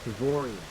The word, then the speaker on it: Savorian: How do you pronounce it? Savorian.